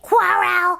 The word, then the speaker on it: quarrel: I think you were supposed to say quarrel, so it would rhyme with barrel.